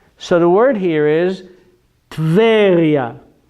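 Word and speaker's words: טבריה: So the word here is Tveria. Not Teveria. It is not Teveria. It is Tveria.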